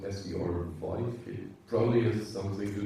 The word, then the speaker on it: SVRVIVE: And as your company is called SVR Vive, it probably has something to do with one person. Yeah, so the company is Survive, spelled with SVRVIVE.